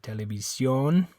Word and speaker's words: televisión: Okay, and that's one that's different in English, because in English that makes kind of an sound. Television. It's like a I don't even know how you say it in English. It's almost not even an sound anyway. Television. It's like a weird sound, but in Spanish it's a O.